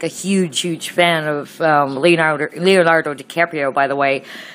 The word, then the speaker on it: DiCaprio: Yep, how Scorpio is DiCaprio. It rhymes.